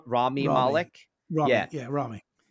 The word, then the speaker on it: Rami: How do you say Rami Rami.